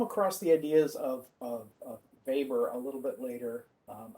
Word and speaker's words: Weber: the ideas of of weber a little bit later um i know it's spelled with the w but it's german so it's pronounced b sound uh so max weber's